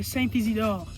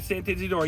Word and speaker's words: Saint-Isidore: La Carnaval de Saint-Isidore. La Carnaval de Saint-Isidore.